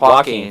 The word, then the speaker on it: Joaquin: Phoenix, if that's how you pronounce it. I may Joaquin I think Phoenix. it's Joaquin Phoenix.